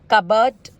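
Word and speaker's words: cupboard: रहा है कुछ केसेस में तो भी पी साइलेंट होता है, हमेशा नहीं, कुछ केसेस में। ओके, तो एग्जांपल्स हम पढ़ते हैं। कूप, कबर्ड, निमोनिया, जैसे मैंने कहा था पी निमोनिया, इट्स निमोनिया।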